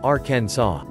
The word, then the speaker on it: Arkansas: For a long time there was a debate whether to pronounce the state's name in the French fashion, making the last S silent, or to pronounce it in a similar way to Kansas. This was eventually settled in 1881 as the former, and has since been pronounced as Arkansas.